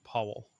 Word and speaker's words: Pavel: that you don't know the gentleman's first name is pronounced Powell p Powell po Powell like like General Powell as in Paul as